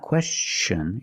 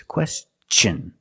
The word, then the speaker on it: question: pronunciation of t n when t n is after an S then it's pronounced differently it's pronounced with the CH sound the hard CH sound like chicken and change